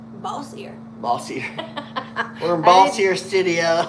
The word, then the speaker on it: Bossier: Bossier City. Bossier. Bossier.